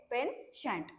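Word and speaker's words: penchant: सी एच एनटी तर याच जे प्रोनन्सशन आहे ते पेन नाही पेनट आहे प एन सी एच एनटी म्हणजे होते पेन शंट सो याच मिनिंग आहे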